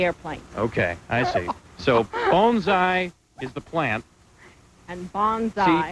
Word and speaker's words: bonsai: We are actually lucky because we also have the vice president of the Bonsai Club, and I am pronouncing that correctly, aren't I, Virginia? Yes, sir. You are. Bonsai.